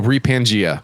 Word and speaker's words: Repangea: Oh, Repangea. Just like Pangea, like the old continent.